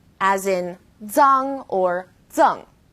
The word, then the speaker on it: zang: Its pronunciation is quite similar to the DS sound in English, like cards, but you need to move the tip of your tongue closer to the back of your teeth.